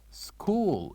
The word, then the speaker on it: school: School. Repeat after me. School. So what do you think the uh silent letter here in this word? Of course, it is letter H, school.